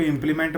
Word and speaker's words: impl: तो इसको अगर मैं प्रोनाउंस करके बोलूँ तो इसको इम्प्लीमेंट बोला जाता है। इन शॉर्ट इसको बोला जाता है इम्पल।